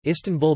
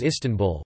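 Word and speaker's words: İstanbul: dotted and dauntless eye in English the stresses on the first or last syllable but in Turkish it is on the second syllable tan a person from the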